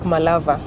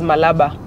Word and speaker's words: Malaba: It's written Malaba with BA, but you know, according to how most people in the Western pronounce B, they pronounce it as a V. So it sounds like Malava, but it's written as Malaba.